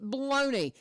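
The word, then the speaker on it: bologna: you say as you as you feel saying the world baloney in your head as you read it knowing full well that it is spelled p o l o GNA a I love that oh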